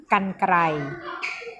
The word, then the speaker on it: กรรไกร: เลย นะ คะ กรรไกร กรรไกร อ่าน ว่า กรรไกร ต่อ ไป คำ ที่